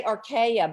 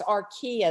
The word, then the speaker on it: archaea: Think of the furniture store, IKEA, because I wanted to say archaea, but it's archaea is the way it's pronounced.